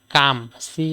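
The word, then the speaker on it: calm: করি ঠিক আছে তারপরে দেখি এল এম কাম এল এম এখানে এল সাইলেন্ট আমরা কি কাম কাম মানে আমার মত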